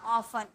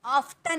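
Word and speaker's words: often: प्राय उसके लिए ऑफ यहां पर टी साइलेंट होता है बोला जाता है ऑफ ऑफ्टन नहीं ऑफ ठीक है क्योंकि बिकॉज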